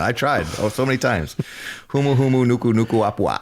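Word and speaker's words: Humuhumunukunukuāpuaʻa: Humuhumunukunukuapua'a. I figured out why you keep saying it wrong. That last K is from the last nuku. Okay, it's not an extra K that you say again.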